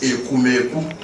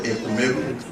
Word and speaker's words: Ekumeku: The actual pronunciation word is Ekumeku, but they can't pronounce it well, it turns into Ekumeku.